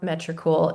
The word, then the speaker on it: Metricool: If not, write down Metricool. It is my favorite scheduling tool. It's spelled just how it sounds, METRI, cool.